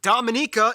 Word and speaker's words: Dominica: everyone wants a piece of djibouti stay tuned dominica yes that's how you pronounce it is coming up all right well